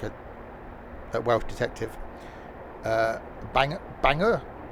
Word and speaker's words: Bangor: Bangor, not Bangalore.